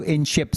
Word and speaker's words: INSHYP: go on to INSHYP, I'll spell it out for you in ship sorry I N S H Y P remember there's a Y there.